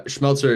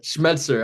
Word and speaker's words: Schmetzer: have it yeah uh schmeltzer is is it schmelzer I said it wrong schmetzer I said schmeltzer last